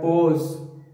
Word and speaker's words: pause: क्या passes बोलेंगे इसको? No, never. इसकी जो correct pronunciation है, वो है pause, pause.